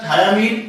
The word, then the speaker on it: thiamine: थायामीन की बात किया जाए THIAMINE है बेटा, ठीक है, THY नहीं है, प्रोनाउंसिएशन में थायामीन ही बोलते हैं, लेकिन वो थायामीन जो